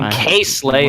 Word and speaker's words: KSlay: And then KSlay, as I was corrected in the chat, is the correct pronunciation there for that player.